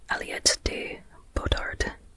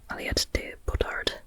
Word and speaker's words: Aliette de Bodard: At least I hope pronouncing that correctly. I heard I heard her name in an interview. And so that's from what I remember how to pronounce Aliot Aliot de Bard.